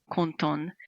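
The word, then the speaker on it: 混沌: It's pronounced Konton in Japanese, and it so sounded like an important keyword to me.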